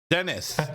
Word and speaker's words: Deniz: we have how do you say your last name then it's Dennis okay well that's easy